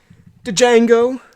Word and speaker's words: Django: Django. Django, classic. The D is silent.